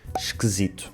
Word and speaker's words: esquisito: Muitas vezes estes “i’s” átonos transformam-se em “e’s”, como na palavra “esquisito”, que nós dizemos “esquesito”. O Filipe é muito esquisito. O Filipe é esquisito.